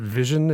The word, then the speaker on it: VisiOn: with this product called, I think you pronounce it Vision. It's Visi on, like VisiCalc sort of a thing. But if you put the two words together, it's Vision, which I think is